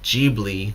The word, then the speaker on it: Ghibli: So I keep getting confused because I was saying it wrong for so long because of the romanization. Now that I know it's actually the Ghibli Museum, I'm still having a lot of issues.